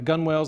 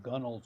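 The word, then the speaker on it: gunwales: plastic whereas the the gun wells the sides are a little more flexible plastic but you can see we've got the grim reaper figurehead that's great it's pronounced gunnels you land lovers tremendous yeah and then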